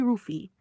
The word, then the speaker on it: Luffy: Rufy. Also ja, es ist im Grunde Rufy, nicht Luffy. Im Japanischen gibt es keinen natürlichen L-Laut, also wird L zu R.